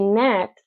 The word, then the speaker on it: gnat: Remember I told you the G is silent, so it's going to sound like we skipped it and went right to the next letter, the N. A net flew busily through a meadow full of wild flowers.